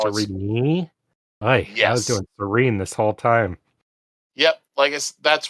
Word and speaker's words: Sarene: Starts off Princess Sarene. It's Serene? I was yes. doing Serene this whole time.